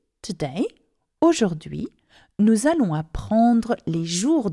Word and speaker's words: aujourd'hui: So, aujourd'hui, today, aujourd'hui, nous allons apprendre les jours de la semaine et les nombres.